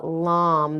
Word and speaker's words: lam: red, do the mantra lam. This is very powerful. It's pronounced It's spelled l a m, but it's pronounced l a u m.